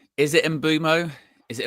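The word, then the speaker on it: Mbeumo: How do you say is it Embo? Is it in Buu? It's actually in Bumo. It's inbumo cuz I've seen a lot about the pronunciation and I think I've been saying it wrong.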